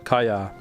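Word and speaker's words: Kaja: Oh, okay, so the J is silent. Ka, yeah. The first part, ka, sounds like a car. And the second part, ya, kaya.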